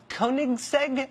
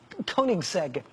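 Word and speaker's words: Koenigsegg: world, including some Swedish thing called a a Koigseg. I think that's how you say it. K O E N I G S E G. Koigseg.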